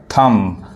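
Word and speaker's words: thumb: बहुत लोग यहां पे बहुत लोग इसको थंब नहीं थंब कहते हैं थंब ये बी साइलेंट होता है बी नहीं पढ़ाता है ये क्या पढ़ाए का थम यानी थम पढ़ाए यहां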